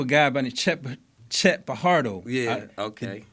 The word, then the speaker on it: Fajardo: I spoke to a guy by the Chet Fajardo. Yeah. Okay. The J is silent.